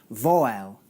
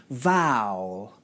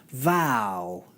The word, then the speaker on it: vowel: Vowel, Vowel. But actually, this word has 1 syllable, not 2, and should be pronounced like this. Vowel, Vowel.